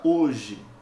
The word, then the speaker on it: hoje: fonemas eu tenho aqui cuidado porque a letra h não representa fonema nessa palavra né ela só é mantida por questões etimológicas ela vem do latim a palavra o dia